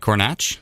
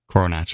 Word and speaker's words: Coronach: to pronounce this name was it corach I believe so he said coronach yes coronach okay perfect um every anybody